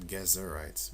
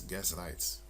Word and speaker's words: Gezrites: And you had the gezrites also, which is spelled gezrites. Not gezerites, but it's gezrites.